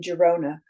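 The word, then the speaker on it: Girona: and the one in Jona was and still is referred to as a call and I'm pronouncing Jona the way it is pronounced in Jona and call is that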